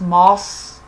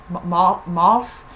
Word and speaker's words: Maus: So I think it's pronounced Moss. Moss.